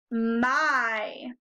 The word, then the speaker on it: my: When you look at it, it looks like it might say y. But instead, it says my. The Y sounds like a long I sound. Say it with me. My.